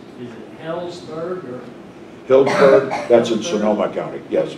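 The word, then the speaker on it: Healdsburg: Before you go, how do you pronounce, is it Hillsburg or? Hillsburg, that's in Sonoma County, yes.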